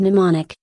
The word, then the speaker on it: mnemonic: root is the word mnemonic the M is silent in her bag her